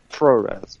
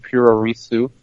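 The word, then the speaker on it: puroresu: We're having this conversation, and it's a really beautiful thing, just like pro res, which is also a beautiful thing. Some people call it Purorisu, as they pronounce it, improperly I might add.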